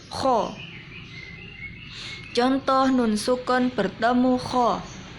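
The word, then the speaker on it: خ: Kalau pengucapan kho ada ngoroknya, kho, bibirnya moncong, kho.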